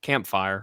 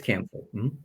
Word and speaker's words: Camphor: was A Cluster of Campfire, or maybe I'm mispronouncing that. I think it's Camphor.